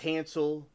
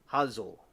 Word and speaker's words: Hansel: And my name, my first name is Hansel, like Hansel and Gretle. And I think the Germans pronounce it Hazel, but we say it Hansel over here.